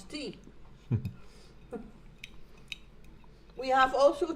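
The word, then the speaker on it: thee: Means It's tea. it means tea, but it's Dutch. T-H-E-E. Yep. Tea, like the, but with another e, and then it becomes tea.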